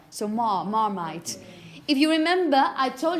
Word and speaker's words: Marmite: Marmite. The last bit is it. Marmite. Yeah, okay. Number 4, number 6. The number 6. Okay. It's long. It's a long R sound, marmite.